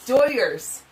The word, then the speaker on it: Dodgers: let's go Viking said in Spanish language the g is silent so it sounds cool like doyers oh very nice very